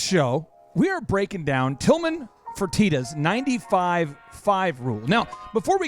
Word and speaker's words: Tilman Fertitta: are many names, there's many ways you could mispronounce Tilman Fertitta's name. Well, there's several. You could say Fertitta. Fertitta. Fertitta. Fertitta. Fertitta. But that wouldn't be his name.